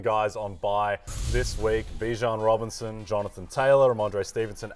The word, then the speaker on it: Bijan: How you pronounce my name is Bijan. Okay. Like, that's how you say my name. But I say Bijan.